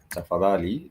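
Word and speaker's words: tafadhali: Because means to get p a t the two words that are almost quite how do you say please? You say tafali for please. Tafali. Tafadali. Tafadali for please.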